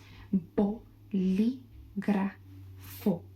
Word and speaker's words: Bolígrafo: Bo, bol, bo, bol, li. So I guess like that is better. Bo, li, gra, gra, gra. Like Ice Spice. Just sorry. Perdón. Bolígrafo. Bolígrafo.